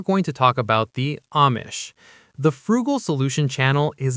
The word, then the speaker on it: Amish: At first, I was pronouncing it Amish, but later I realized the correct pronunciation is Amish.